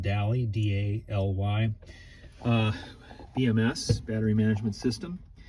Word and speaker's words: Daly: And then it's hooked here on the edge there, the little red part you see there is I think it's pronounced DALY, D-A-L-Y, BMS, battery management system.